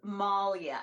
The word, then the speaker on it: Moglia: just practiced it oh it is Malia so the way my husband explains it is what a bear would do to you it would Maul you the best explain